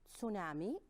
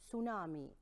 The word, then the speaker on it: tsunami: And there is another pronunciation for this word, which is tsunami. So we have tsunami or tsunami. So two pronunciation for the word, and it depends whether it is American English or British English.